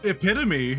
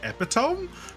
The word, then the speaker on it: epitome: epitome, everyone almost always invariably as kids is like epitome because Yeah. that's how it's spelled.